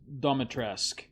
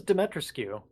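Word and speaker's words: Dimitrescu: Castle Domitresk. Oh, I thought it was Demetrescu. Well, I mean, that's how it's spelled, but the pronunciation, I think for some reason it's a silent U.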